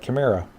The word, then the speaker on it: Chimera: However you pronounce that. Chimera. With a K.